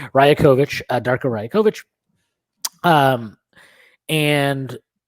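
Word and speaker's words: Rajaković: very very upset that I was mispronouncing his name as Roger kovich so thank you for being getting upset with me and correcting me Raya kovich uh darker ryokovic um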